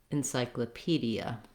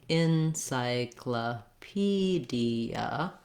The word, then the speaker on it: encyclopedia: Another tense E in the D. I always recommend starting on that stressed syllable and building from there. That would sound like pedia, encyclopedia.